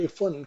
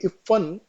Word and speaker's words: इफ़्फ़न: इस इफन को टोपी ने सदा इफन कहा। देखिए इफन और इफन में क्या डिफरेंस यहां पे फ के नीचे डॉट लगा है। ये बिंदी लगी हुई है।